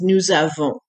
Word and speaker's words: nous avons: To some people it sounds like we soap, nous savons. Of course, it would be pronounced a little bit differently, nous savons. But anyway, the S from the nous running into a vowel sounds like a Z.